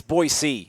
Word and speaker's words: Boise: it's not boy Pete is it really it's Boise yeah like it's a scene out of Z it's more of a seat it's not like Boise like my boy D right right so Jonah